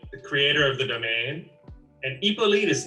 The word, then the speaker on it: Hippolyte: You know, you don't pronounce the H necessarily.